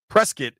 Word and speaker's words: Prescott: Prescuit is how they pronounce it.